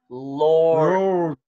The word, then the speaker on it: Lord: Lord. 아, 맨 처음에 으 하지 말고 으 이 R이 아니고 L은 으 Lord. 어, L을 맨 처음에 R처럼 하면 안 돼요.